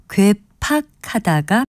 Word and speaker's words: 괴팍하다: 이때는 두 번째 음절에 팍을 쓰는 괴팍하다가 합니다. 원래 이 표현은 어그러질 괴자에 괴팍할 팍자를 쓰거든요. 하지만 괴팍으로 발음되는 현실을 받아들여서 모음이 단순한 형태인 괴팍하다를 표준어로 삼았습니다.